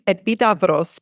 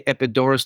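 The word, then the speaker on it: Επίδαυρος: Epidoris as it's spelled epidos. Well, in Greek it's epidavos, but yes, it's good enough. You're epid epidos. I often say epidorus to teach uh non-Greek speakers how to recognize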